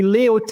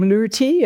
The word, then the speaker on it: Leautey: Uh, it's actually leote in French and um because I was living abroad since the age of 20.